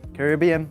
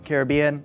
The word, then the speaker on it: Caribbean: I seriously have to ask how do you pronounce it correctly Caribbean Caribbean is it like some secret third way that